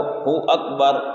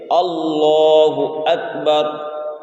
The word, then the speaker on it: اللہ اکبر: ظاہر نہیں کرتے ہیں، اور اکبر جو ہے اکبر کو ہو اکبر یعنی واو کے ساتھ کہتے ہیں، اللہ اکبر۔ تو صحیح تلفظ یہ ہو جانا چاہیے اللہ اکبر۔ اسی طریقے سے رکوع